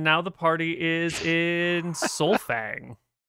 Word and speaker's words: Sol'Fang: It's the elves would call it Solfang. If you talk to the humans, they'll call it Solvang.